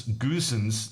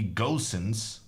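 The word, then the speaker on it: Goossens: key thing you prounce goosens not well it's not like Goose The Double O is to be pronounced as in go well then you shouldn't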